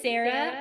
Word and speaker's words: Sara: interesting Sarah or sarra well it is Sarah but often times people pronounce my name differently and I come to like how they pronounce it so I am fine if you want to call me SAR gotta Sarah I do